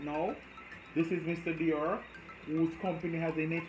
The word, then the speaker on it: Dior: next on our list we have dior no not dial guys make it a